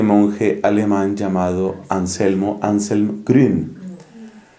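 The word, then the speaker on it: Grün: alemán llamado anselmo anselm gren que se escribe G ru n la u con diéresis Entonces es esa I alemana anselm gren ha estado predicando aquí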